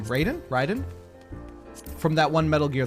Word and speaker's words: Raiden: Raiden, thank you. It's giving so much Raiden. Raiden? It would be Raiden if I was pronouncing it Japanese. Raiden. Said Raiden, yeah. I was pronouncing it like a gringo.